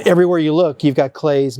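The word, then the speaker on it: Klee: You Look you've got Clay's name I know it looks like Clee but it's pronounced clay we have also the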